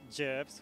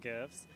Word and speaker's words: GIF: me about this booth well this booth contains gyps which is the correct way of pronouncing it not gifts and it has all the gifs from the